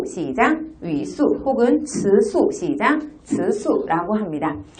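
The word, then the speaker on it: 词素: 네, 중국어로 형태소는 우리가 위수, 시작, 위수 혹은 츠수, 시작, 츠수라고 합니다. 자, 위수와 츠수, 어소 혹은 사소라고 읽혀지는데요.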